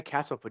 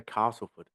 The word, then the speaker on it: Castleford: Same as Castleford. You say Castleford, you don't say Castleford.